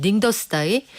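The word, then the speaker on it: 宁德时代: 이게 그 사람들 발음으로는 닝더스다이 이 미국 시장에서 벗어나서 중국 본토 자금 가지고 우리가 우리 회사 키우겠다 이런 의미로도 해석이 가능합니까?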